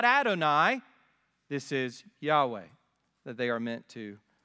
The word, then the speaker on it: Yahweh: where the divine name the consonants yhwh were put together with the vowels from adonai and it created this mistaken hybrid pronunciation jehovah which is not the